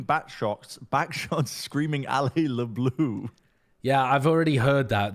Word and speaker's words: bleu: You pronounce it like blue. You say Allez le bleu.